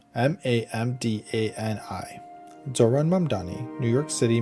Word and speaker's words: Mamdani: M A M D an I. Zoran Mdani, New York City mayoral candidate, clapped back after the White House mispronounced his name as Zamani in a viral Tik Tok set to Hollowback girl.